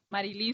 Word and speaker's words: Marilín: Marilín se pronuncia.